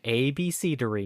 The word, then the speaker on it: abecedary: But it is definitely pronounced Abecedary? Abecedary, yep.